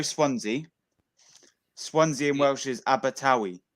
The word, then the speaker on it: Abertawe: Yeah, How do you pronounce that? Diolch. And Diolch. do you know Swansea? Swansea in Welsh is Abertawe.